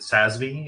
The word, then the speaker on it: SASB: Is it SASB? Is that how you say it? Yep. Rhymes with FASB.